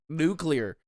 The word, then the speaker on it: nuclear: There's no second U in nuclear. I'm from southern Michigan. I don't care. You're teachable. Be teachable. Nuclear. You're adding a third syllable. Nuclear. It's just nuclear.